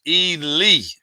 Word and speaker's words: Ely: Pronounced Ely in the house.